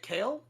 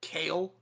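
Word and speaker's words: Kayle: leaf would be looking at k is it kale uh yeah k-a-y-l-e moonstone so okay no no just make sure i'm pronouncing it correct kale yes kale yeah food okay sure we're just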